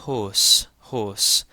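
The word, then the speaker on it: ϩⲱⲥ: So here we have the hi followed by the long o and the sema. So this is hos hos.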